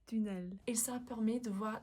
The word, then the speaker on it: tunnel: glisse à l’intérieur d’un tunnel – désolée la bonne prononciation c’est ‘tunnel.’ Et ça permet de voir l’intérieur du corps.